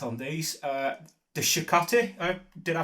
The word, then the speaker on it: Shakti: of the pronunciations right on these uh the Shakti did I pronounce it shti Shakti yeah the rest of them are Ms